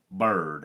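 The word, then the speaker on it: Byrd: quarterback whose name is Bird, and I don't mean last name, I mean first name. His name is Bird Ficklin, and Bird is spelled B-Y-R-D.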